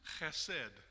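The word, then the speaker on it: חֶסֶד: The Hebrew and Aramaic word he would have said is you kind of have to clear your throat at the beginning, and then you say the word. It's pronounced chesed.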